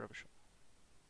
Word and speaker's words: Revachol: Revachol is our city, or Revachol. Okay. If it doesn't rhyme, you're not pronouncing it right.